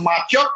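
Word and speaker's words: 麻雀: just to play mahjong over here is pronounced macho in uh cantonese and madonna and it's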